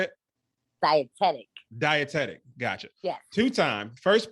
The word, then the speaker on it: dietetic: is a nasa double certified personal trainer a dietic nutrition consultant by day please correct me if i didn't pronounce that the right way two times two what how do you say it dietetic dietetic gotcha yeah two-time first place competitive female